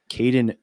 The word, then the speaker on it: Kadin: have a guest uh we're going to welcome Kaden M hopefully I pronounced that name correctly but he will correct